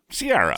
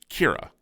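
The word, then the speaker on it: Ciara: a r a anyone reading that would say Sierra Siara Sierra Sara let's Call the Whole Thing Off yeah but it was actually pronounced Kira Kira and there were two Kira in the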